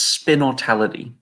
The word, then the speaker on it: Spinnortality: again the name is spin or tality its a mix between spin as in like marketing spinning a product and immortality which is like the